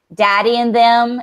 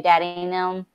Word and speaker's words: Daddy and Them: called daddy and noon daddy and them is what I said but you say daddy named them that's how you say it down here man